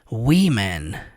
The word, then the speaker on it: women: E aqui mulheres você pronuncia women. É bem diferente a pronúncia, né?